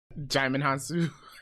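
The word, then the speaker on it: Djimon Hounsou: He ended up in I don't know how to pronounce this guy's name. Digimon Han Solo. Him. Jaimin Hansu.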